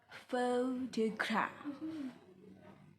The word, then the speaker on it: photograph: For example, photograph. Pho, primary stress. 2. Secondary stress. Graph, unstress.